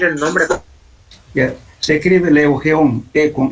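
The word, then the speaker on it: Lugeon: Ya, se escribe Leugeon, con L.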